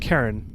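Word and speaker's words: Charon: According to Wikipedia is pronounced Karen. Oh, that's what I thought. I always pronounced it Karen and then I think I I think I heard some game or something pronounced it Sharon and I was like what?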